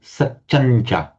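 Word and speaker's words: satyañca: So the final nasal alters its position both in pronunciation and in writing for the following cha, satyancha. In fact, if you write it in this way with the nasal and cha, the subdotted m plus cha, it would still be pronounced satyancha. Both forms of writing are equally correct, but you'd always pronounce it satyancha.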